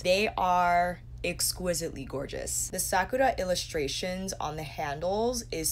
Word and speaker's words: Sakura: on Google to find how you pronounce Sakura is Sakura Sakura here is the